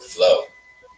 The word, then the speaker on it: Phlo: Anyway, my brother was like, I think it would be dope if you were Flo. Mm-hmm. But keep the PH. Spell it PHLO.